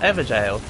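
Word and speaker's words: Evergaol: It's pronounced ever jail. Really? Okay. Ow. Yeah, this is very danceresque, which is great cuz I love dancers, as you know. Ow. Um, we'll go from the the statue cuz that's inevitably closer cuz jail is the old word for jail, but the pronunciation is the same.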